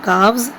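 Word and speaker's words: calves: का हावज क्या बोलेंगे एल साइलेंट ओके ये साइलेंट रहेगा काफ्स ये काफ होता है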